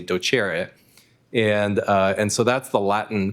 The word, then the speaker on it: docere: taught me that the origin of the word doctor is docere, or pronounced properly docere.